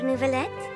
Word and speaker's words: Neuvillette: zone out miss your nouveaulette I recalled some things from my past events from a very long time see how she said nouveau you said it right whoa to me humanity